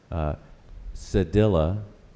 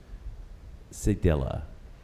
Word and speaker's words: cedilla: correct speller number eleven a couple of pronunciations here cedilla is the preferred pronunciation this word is also sometimes pronounced sig della villa is this word from